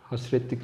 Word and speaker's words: hasretlik: Halkalı Şeker hasiretlik çeker hasretlik çeker diye yazılıyor hasretli çeker diye okunuyor arkadaşlar 16 ölçü doresiz sordu